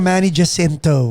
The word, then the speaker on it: Manny Jacinto: Pero ang pronunciation, Manny Jacinto.